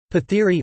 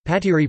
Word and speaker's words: Pathiri: Pathiri Malayalam, Pathiri pronounced pat-e, is a pancake made of rice flour.